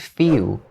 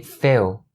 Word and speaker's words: few: Also, be careful when pronouncing the word few because its vowel is ew, as in cute, mute, or huge. And don't ever say fill, or fill. It's not correct. It has to be few.